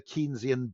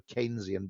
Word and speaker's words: Keynesian: related thing which is the kenian beauty contest or the Keynesian beauty contest depending on how you want to pronounce the guy where it's a beauty